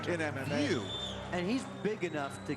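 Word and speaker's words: Wiuff: His His name is spelled like Weave, but it's actually pronounced View.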